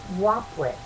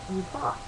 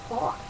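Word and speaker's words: Upuaut: along with another god, Wapwit. Wait a minute. Upot. Pronounced Upot.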